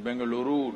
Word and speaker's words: Bengaluru: in bangalore you know where is bangalore it is bengaluru now okay you have to pronounce it rightly and i'm there and these are conferences for under 25.